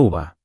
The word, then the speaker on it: uva: Y uva es muy corta, no u con acento va, solo uva.